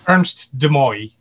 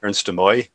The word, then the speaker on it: Ernst de Mooij: Do you mind me asking, Ernst, what is the correct pronunciation of your surname? Ernst de Mooij.